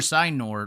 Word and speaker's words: Signor: I've said Signor, Signor like 5 times. Signor, just how it looks.